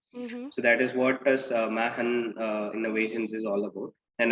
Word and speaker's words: Machenn: the year 2017 and we pronounced it it has mahan innovations it's the c is always silent it's it's actually a